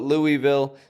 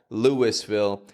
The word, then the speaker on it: Louisville: Some places call it Louisville. Some places call it Louisville. The point is, there's no W in the spelling, my friend, but we are pronouncing a W every time.